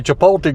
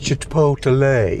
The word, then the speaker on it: Chipotle: what you call it my kids make fun of me for how i pronounce i say chipotle grill no it's chipotle anyway chipotle grill always